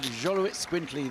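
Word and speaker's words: Xoloitzcuintli: we have the Jolo it's quintly very good Jolo it's quintly this Astic breed yes that pronunciation could have gone either way Frank I'm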